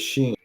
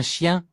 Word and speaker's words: chien: Dog is chien. chien, Okay. Chien. The end is silent.